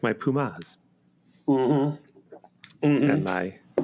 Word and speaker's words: Puma: I think Pumas is pronounced Pumas.